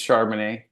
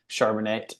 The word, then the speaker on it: Charbonnet: I'm like you know my name's charman they almost never said it and if they did they said it wrong they say pronounce it a different way shonet or you know charbon it or something else and so I'm like